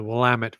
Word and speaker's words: Willamette: so we've talked about the geocaching in the lament belly I said it right that time yes